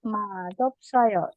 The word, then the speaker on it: 맛없어요: 자, yang ini ya Rabun, perhatikan bacanya adalah 맛없어요. Di sini siapnya akan dibaca seperti huruf diget. Ya, jadi 맛없어요, bukan 맛없어요.